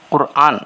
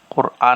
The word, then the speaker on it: قرآن: سب سے پہلی بات، لفظ قرآن، بہت سے لوگوں کو لفظ قرآن کہتے ہیں، قرآن، را پر جزم ہے، یاد رکھو۔ قرآن صحیح تلفظ قرآن ہے، قرآن کہتے ہیں لوگ۔ اس حدیث میں قرآن